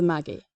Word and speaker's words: Magi: At number 4, we have Grift of the Maggie, as I believe is the British pronunciation.